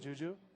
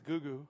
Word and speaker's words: Juju: Did I pronounce that Juju? Yeah, I think so. I don't think it's Gugu. It's not Gugu.